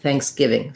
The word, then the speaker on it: Thanksgiving: for syllable stress uh we have stress on the giving part of thanksgiving the a vowel is influenced by what follows it so when i say thanks or thanksgiving the letter n is actually not an n sound i'm not saying fans i'm saying thang thanks so we have actually an ng sound for the letter n so thinking about that like fang um now most people